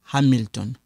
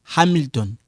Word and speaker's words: Hamilton: Kevin habite à Hamilton. So here, this one is silent, and then this "a" you stress it.